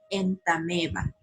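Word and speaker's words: Entamoeba: no tiene sonido es por eso que se pronuncia en tame va tengan cuidado al escribir el nombre científico de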